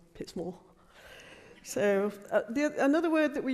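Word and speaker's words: Pitsmoor: so if you actually from pitts more you pronounce it pips more not pip small pits more so another word that we use a lot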